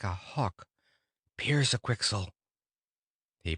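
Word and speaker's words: Pyrzqxgl: become a big strong bird like a hawk Pierce a quixel he pronounced it the right way so in a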